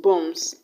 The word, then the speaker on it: bombs: bomb to make it bombs then the b will still be silent even though the last letter is no longer be rather s please note that the